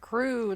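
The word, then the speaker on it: krewe: heard that term before crew though it's spelled with a K yeah it's k r e w s yeah uh this Society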